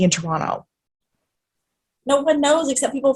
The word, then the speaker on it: Toronto: where i get upset no one no one who is from toronto pronounces the second t no one zero people